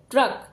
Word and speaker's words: ट्रक: भी कैसा होगा देखिए जो ट व्यंजन है वो आधा ही बोला जाएगा और फिर र का उच्चारण करेंगे और यह क ट्रक नॉर्मल सा वर्ड है